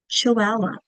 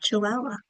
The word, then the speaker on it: Chihuahua: Chihuahua. Do you hear a schwa? I do. At the end of Chihuahua.